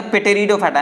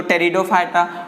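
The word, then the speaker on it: Pteridophyta: जैसे आप थैलोफाइट्स यानी थैलोफाइटा, ब्रायोफाइटा, टेरिडोफाइटा, पेटेरिडो नहीं कुछ बच्चे पढ़ेंगे पेटेरिडोफाइटा नहीं पी यहां पर क्या है? साइलेंट है। तो टेरिडोफाइटा और जिम्नोस्पर्म और एंजियोस्पर्म।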